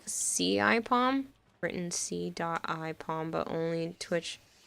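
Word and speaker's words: CIPom: Saipom says nearly right. It's pronounced more like C-I-Pom.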